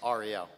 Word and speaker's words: Ariel: I believe I pronounced that wrong. It's Ariel.